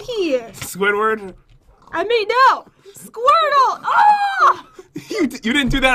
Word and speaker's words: Squirtle: Squirtle!